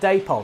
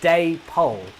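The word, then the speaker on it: Dapol: been corrected on this apparently it is pronounce day Poole because it's an amalgamation of I hope I'm getting this right uh David and Polly so it's Day pole um it it takes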